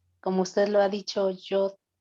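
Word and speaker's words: יוד: ¿Cómo se escribe? La Yod es la Y para nosotros.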